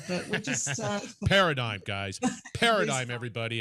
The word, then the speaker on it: Paradigm: Paradigm, everybody. It's Paradigm, not Paradigm.